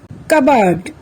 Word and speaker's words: cupboard: হৈ থাকে the words are receipt psychology psycho cupboard psychiatrist pneumonia let's find out some other words where S is silent আহাচোন আমি এতিয়া Sৰ উচ্চাৰণ কতনো উজ্জ